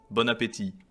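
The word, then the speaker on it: bon appétit: it's very enti I in but the tea is silent bonap okay all right power off I'll start taking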